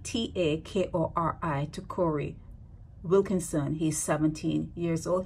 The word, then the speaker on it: Takori: Now, this guy's name is spelled here Takori with a J, and in every other submission, it's a T, Takori, okay?